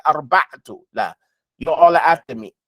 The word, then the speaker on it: الأربعة: Say arba'atu. La. You're all after me. Al-arba'atu.